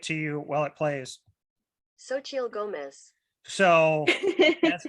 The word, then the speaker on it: Xochitl Gomez: Xochitl Gomez.